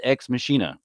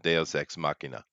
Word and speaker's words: deus ex machina: what we get is they use X machine ax it's where all the sudden it's technically pronounced a ASEC deus ex machina just saying you know